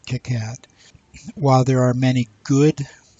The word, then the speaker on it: KiCad: PCB software called Ticats I'm pronouncing Kitcat while there are many